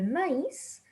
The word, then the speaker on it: maïs: But if you have the two dots, that means that you need to separate those letters when you are pronouncing them.